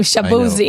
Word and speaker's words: Shaboozey: I just like saying his name, Shaboozey. Of all the artists that rhyme with Uzi, he's my favorite.